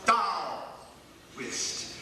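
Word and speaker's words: Taoist: was that you said pastor is pronounced thst write it down t a o i s t thst as the Buddhists taught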